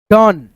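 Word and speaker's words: done: सम उसके बाद से डी ओ एन ई डन देखो यहां पे ओ का उच्चारण अ में आ रहा है दोस्तों ठीक है सी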